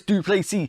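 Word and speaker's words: Du Plessis: do you like us do please see he is a Phenom from South Africa the S is silent and always he looks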